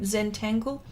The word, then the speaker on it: Zentangle: that how is that how you say it zentangle yeah yeah yeah wendy's been doing a lot of that and she showed me and it's some really good stuff and some really good artists that do that zentangle you actually you should explain that wendy in